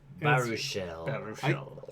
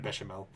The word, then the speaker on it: Baruchel: Baruchel. I keep forgetting. I keep pronouncing it Bechamel.